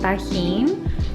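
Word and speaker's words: Tajín: It's called tajin, and yes, I'm pronouncing that in a Spanish accent.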